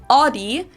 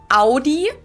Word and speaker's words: Audi: Most Americans that I know pronounce it like I just said it, Audi. In German, we say Audi.